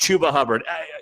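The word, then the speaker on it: Chuba Hubbard: Google Play wherever you get your podcasts it's pronounced tuba Hubbert relax all right oh come on come on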